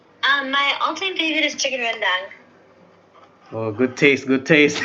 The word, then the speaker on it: rendang: My all-time favorite is chicken rendang. Oh, good taste, good taste, good Oh my taste. gosh, guys! I love how Rachel pronounced rendang correctly.